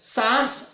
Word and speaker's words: सांस: चंद्र बिंदी वाला जब हम उच्चारण करते हैं तो वो नाक और मुख के माध्यम से वहां पे उच्चारित हो रहा है, और सास शब्द सीधे